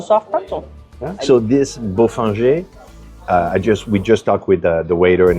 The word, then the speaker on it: Bofinger: Well, it looks like it should be Bofinger, but it's Bofinger.